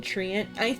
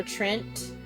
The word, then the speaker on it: treant: Okay, I didn't realize this one was sapling treant. You can pronounce it treant or Trent, either or. I think both are appropriate pronunciations.